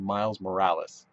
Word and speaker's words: Morales: somebody they couldn't it's called a mild morals instead of Miles Morales you live next to Spain you vacation there how can you not figure out how to say Morales uh-uh what culture I'm